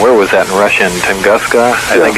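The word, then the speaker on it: Tunguska: Tangaska, I think it's pronounced.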